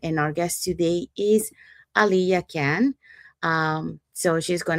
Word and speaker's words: Aliya: Is it Aliyah or? No, it's Aliyah.